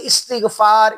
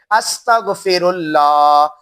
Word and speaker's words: استغفر اللہ: ادا کر سکتے ہیں۔ استغفار، یہ کہنا کہ استغفار استغفار استغفار، ایسے نہیں، بلکہ اصل جو پڑھنا گئے اور اللہ سے معافی مانگنا گئے اس کا تلفظ اور ادائیگی یہ گئے استغفر اللہ استغفر اللہ استغفر اللہ، ان لفظوں